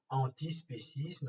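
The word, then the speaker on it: antispécisme: le mouvement d'idées antispécistes andy spécisme ça suffit comme ça se prononce en ti et ensuite spécisme comme espèces dont spécisme ça ce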